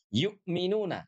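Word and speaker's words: يؤمنون: Nah, huruf ya ini oke ini harus dibaca dengan sempurna. Yu yu ah jangan sampai ye tidak ye tapi yu yuk minuna yukminuna domu syafata ini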